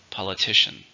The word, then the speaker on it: politician: it's a countable noun how many syllables politician four stresses on the third politician it's been a politician